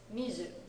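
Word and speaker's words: 水: means Wednesday yes and Su is also when it's by itself water which is pronounced when it's like your drink it is Mizu okay so um if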